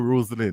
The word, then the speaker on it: Roslyn: Is it Roslyn or Roslyn? Because I keep getting the pronunciation.